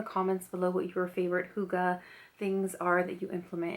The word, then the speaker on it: hygge: book of hygge so different people pronounce it in different ways but i believe it's supposed to be hygge h-y-g-g-e so let's go